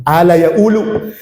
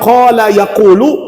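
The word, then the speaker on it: قال يقول: Ala yaulu. Jadi kalau di Mesir qof itu hilang. QF berubah jadi a. yang seharusnya qala yaquulu tulisannya sama qala yaakulu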